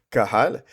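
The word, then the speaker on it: קהל: Étymologiquement, les l'église va venir du mot du mot hébreu kalal. J'espère que je prononce bien Caral qui est Q H A L A Q H Q U A L A Q U A H A L pardon Kahal qui signifiait donc synagogue.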